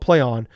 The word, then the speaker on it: Plaion: So it's actually called Playon.